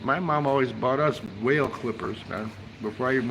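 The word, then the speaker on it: Wahl: It's wh a hl, but it's pronounced whale. Yeah, it's pronounced whale.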